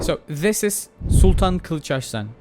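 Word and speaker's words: Kılıçarslan: So this is Sultan Kilcharan. Yes, this is how you pronounce it in Turkish.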